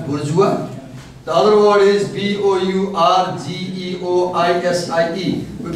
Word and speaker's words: bourgeoisie: The other word is B-O-U-R-G-E-O-I-S-I-E, we pronounce as bourgeoisie.